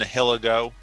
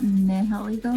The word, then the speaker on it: Nihilego: So for leads, he has Torkoal and Nihilego.